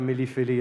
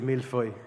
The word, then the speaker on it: millefeuille: But one thing I'd like to correct is, it's not a millefeuille, it's a millefeuille. That's often mispronounced, so thanks for correcting that.